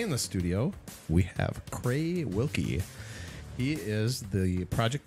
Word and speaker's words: Crae: You don't hear Crae a lot. Yeah, not many people do. There's the Crae supercomputer. Oh, yes. Yeah. Although I think that's spelled C-R-A-Y, and you're C-R-A-E.